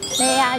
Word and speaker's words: MAYA: ってて、マヤって書いてあるけどメイヤーって読むんですよね、うん。